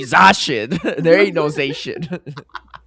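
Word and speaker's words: Zacian: Zashian, you're right cuz it's actually Zashin.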